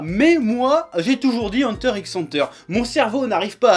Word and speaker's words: Hunter x Hunter: Hein, si vous voulez pas mettre de X, fallait pas mettre de X si c'était pas pour le prononcer. Donc moi je dis Hunter x Hunter, point barre.